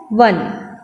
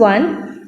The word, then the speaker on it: won: लिखने में हम लोग WON लिखेंगे, but when we pronounce, when we read this word, so we'll read as one. ठीक है, WON, this is one.